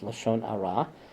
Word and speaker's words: lashon hara: Lashon hara, or in Yanina is pronounced Lashon ara, which is malicious gossip.